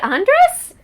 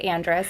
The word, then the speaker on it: Andres: the first time and told me that I was saying my last name wrong. Oh. And that I'm supposed to roll my R, but I sound ridiculous when I try to do it.